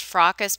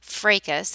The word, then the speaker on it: fracas: this and they think it's pronounced frockus but it's actually a long a fracas and it's a noun